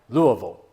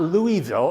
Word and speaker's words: Louisville: moved from Nashville to let's say it right Louisville not Louisville it's Louisville and uh that's where my dad uh he had kind of an indistinguished life in Louisville except he tried he went to the Louisville Male High School and he tried out for